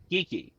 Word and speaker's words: Geekey: two separate words but actually on the packaging you can tell it's actually just geeky so there is no separate a separation in between the geek and the key so when I say it like that I am actually saying it wrong this is the geeky